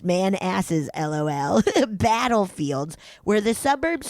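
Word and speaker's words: Manassas: My parents live in the far out suburbs of DC, a few miles past the man asses. That's how it's pronounced. It said pronounced man asses, lol.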